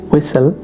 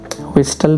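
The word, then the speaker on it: whistle: सीटी बजाना, इसकी इंग्लिश होगी विसल, यहाँ पर टी साइलेंट है। ओके, विस्टल नहीं कहेंगे आप लोग।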